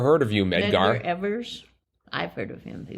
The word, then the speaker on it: Evers: But it's pronounced Evers, right? Not Evers. Yeah, we pronounce it Evers.